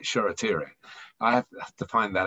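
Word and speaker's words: Shoretire: the hard part um charity ray is spelled short eye he's manchester united's new starlet it's spelt e s-h-o-r-a t i r e tire that sheratiri i have to find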